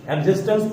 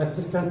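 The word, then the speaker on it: existence: TNC है, एग्जिस्टेंस पढ़ते हैं इसको, एक्सिस्टेंस नहीं, एग्जिस्टेंस पढ़ते हैं।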